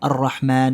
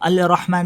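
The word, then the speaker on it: الرحمن: अर रहमान अलमल कुरान तो हम अल रहमान नहीं पढ़ते हम क्योंकि क्योंकि इसका एक रूल है अरबिक का एक रूल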